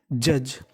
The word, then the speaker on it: judge: यानी आपको इंग्लिश में कहीं पर DGE लिखा मिले तो उसका उच्चारण होता है जा। तो मीनिंग बन गई जज।